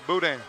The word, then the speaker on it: boudin: I've gotten to eat a little bit of the boudin ball. Is that how you say it? Yes, sir, boudin.